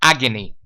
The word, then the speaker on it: agony: So the girl was in constant pain, or the girl was in constant agony. Okay, repeat after me. Agony, agony, agony, agony. It's the same schwa sound.